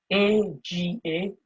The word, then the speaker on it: agarrar: A-G-A-R-R-A-R. A-G-A-R-R-A-R. It's pronounced as agarrar.